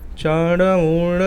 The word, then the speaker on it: চণ্ড: এটা মূর্ধন্য ড আছে তো, তো ন উচ্চারণ হয় হচ্ছে সংস্কৃতে না, মূর্ধন্য উচ্চারণ হয় আচ্ছা, ণ, ণ, রানা ন উচ্চারণ হয় না। আর মূর্ধন্য উচ্চারণ হয় ণ, রা। রামায়ণ, ঠিক আছে, নারায়ণ, এরকম ভাবে মানে জিভটা টাংরায় ঠেকবে, সেটা হচ্ছে মূর্ধন্য, সেই জন্য চণ্ড মুন্ড বিনাশিনী।